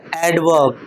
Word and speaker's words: adverb: वही है एडवर्ब। अब यहां पर तुम लोग डी साइलेंट मत कर देना।